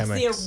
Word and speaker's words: Chemex: I do not know how you pronounce it. It's Chemex.